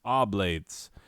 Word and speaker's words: oblates: and i was like i will remember it's oblates because you're oblong no you're obliged um that's how the google told me to say it oblates i obviously know what